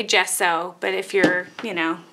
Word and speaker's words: gesso: bit different oh okay gesso not guess so i have only read